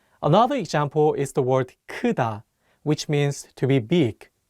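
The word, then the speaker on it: 크다: example is the word Kuda which means to be big again be careful with the first syllable it's not pronounced like coup listen one more time kuta one last example is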